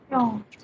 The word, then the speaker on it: attention: Now you have TION, SION, XION, and double SION also. These sounds are going to be sounded as a sion. Sion. Attention.